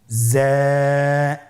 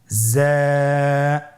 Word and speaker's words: যা: তাহলে হরফটির নাম কি যা আবার বলুন যা উচ্চারণ করার সময় অবশ্যই এক আলিফ টেনে পড়তে হবে এক আলিফ টেনে পড়তে